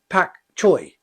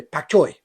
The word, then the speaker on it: pak choi: so and it's called pak choy now if you go to the shop you got it you can't say pak choy you say pak choi pak choi that's the chinese we're pronouncing now why